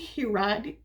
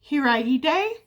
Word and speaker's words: Hiraide: And this book is The Guest Cat by Takashi Hiradi. I'm sorry about the bad pronunciation. Hiraide.